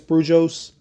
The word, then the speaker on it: Brujos: having um you know it's b r UJ oos I think it's brujos um if I'm saying